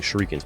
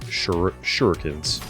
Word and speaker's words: shurikens: roast me for it i like saying shriekens but apparently it's shurikens all right regen's bit